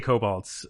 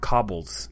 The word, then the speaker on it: kobolds: Yeah, I say kobolds. Okay. I know there are people that pronounce it 100 different ways, but yeah, it's always kobolds for me.